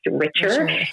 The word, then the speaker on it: Richer: health consulting which my last name is actually richer but it is genetically spelled and pronounced richer and so it was a play on words